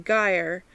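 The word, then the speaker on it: gyre: words sly thee i make the g hard in gair and gimble and pronounce it and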